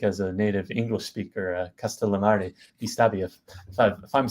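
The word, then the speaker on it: Castellammare di Stabia: for me like as a native English speaker castal Mari dbia if I'm saying it correctly please Perfect yeah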